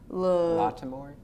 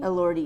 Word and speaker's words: Elordi: also love Jacob do you know how to pronounce it? Latimore, is it?